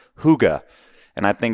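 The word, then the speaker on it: hygge: in their culture called Huga and I think it's spelled h y g g and it's pronounced Huga and there's no direct translation to English but it's this concept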